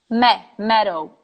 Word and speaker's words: meadow: So, for example, the word meadow is pronounced meadow, EA.